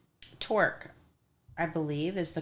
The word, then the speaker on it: Torc: Torque, I believe, is the correct pronunciation.